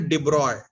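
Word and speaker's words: de Broglie: हुआ है ठीक वह मेल जो है यह साइलेंट रहता है ठीक है तो उसका प्रनंसीएशन एंड डिब्रॉय डिब्रॉय एक डिफ्रेंस फिजिसिस्ट डिपॉजिट डिब्रॉय क्वेश्चन आएंगे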